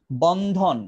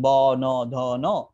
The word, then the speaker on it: বন্ধন: যে অক্ষর দিয়া ভাঙ্গেন বন্ধন বন্ধন বললে আপনি কি উচ্চারণ করেন আপনি কি উচ্চারণ করেন বন ধন আপনি কি বলছেন বনধন তোমার আমার বনধন আছে না বনধন নাই বর্ণের মত বনধন নাই সো এটা বনধনও না এটা হচ্ছে বন্ধন বন্ধন বনধন সো এটার